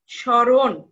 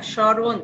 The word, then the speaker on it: স্মরণ: আমরা উচ্চারণ করবো না যেমন স্মরণ দন্ত স এর সঙ্গে এটা কি আছে ম আছে আছে আমরা কিন্তু এখানে ম টা উচ্চারণ করছি না স্মরণ তাহলে স টা উচ্চারণ